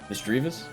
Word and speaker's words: Misdreavus: Misdreavus. You could pronounce it either way, depending on how you pronounce the word mischievous or mischievous.